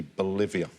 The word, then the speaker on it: Bolivia: Bolivia, very well played. The only country in the world to rhyme with Olivia.